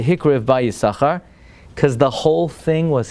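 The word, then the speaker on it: Yissachar: Yissaschar. How come they don't pronounce it the shin, the second? Why? Because the word Yissaschar has two meanings, two shins.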